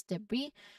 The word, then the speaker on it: debris: And finally, debris. This word comes from French, which explains the silent S at the end. It's pronounced as debris. So the S is not, sounded at all.